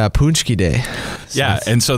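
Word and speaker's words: pączki: to say that it's punchy day yeah and so that's a word that's not spelled like it sounds either that's like hockey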